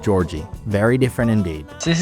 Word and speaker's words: Jorge: I need to remember now that I'm not in a Spanish-speaking country and the word Jorge is now pronounced Georgie.